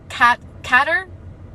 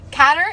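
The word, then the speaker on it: cadre: Catter? C-A-D-R-E. I've never seen that word in my entire life. Catter?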